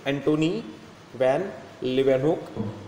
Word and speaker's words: Antony van Leeuwenhoek: Antony van Leeuwenhoek, pronunciation is Antony van Leeuwenhoek.